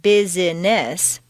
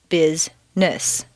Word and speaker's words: business: actually spoken for example business is not biz business but rather biz-ness just when you get used